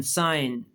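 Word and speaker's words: sign: थोड़ी सी समझिएगा कि अगर जी के साथ एन आ जाए तो फिर जी खामोश होता है। देखिए आपके सामने है एस आई जी एन साइन तो साइन में जी क्या है? खामोश है।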